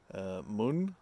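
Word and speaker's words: Møn: from the island of Moon I think it's pronounced m o with a line in it n uh which was yeah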